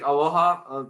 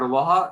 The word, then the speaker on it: aloha: said with the word aloha and just by the way i wanted to break that up for you it's actually two two syllables it's a low and ha and what that actually